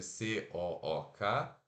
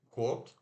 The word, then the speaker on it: cook: né, no próximo vídeo, que é o U de uva, ó, U, mas relaxa os lábios.